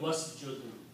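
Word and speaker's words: واسجد: So when you put wow before that wow means and and don't pronounce this alif you become was jud and and make sajid okay and make sajid.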